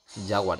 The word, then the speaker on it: jaguar: Jaguar, es que pongo el acento en la A.